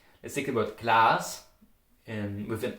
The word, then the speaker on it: Glas: Let's take the word Glas with an A. In Austria you would say Glas with an O.